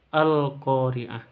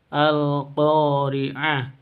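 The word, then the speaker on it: القارعة: Sahabat-sahabat pencinta Al-Qur'an, kita mulai dari yang pertama, Al-Qari'ah. Di sini ada kata alif lam, ada tandanya sukun. Berarti ini bacaan al-qamariyah atau izhar qamariyah. Bacanya jelas, jangan didengungkan.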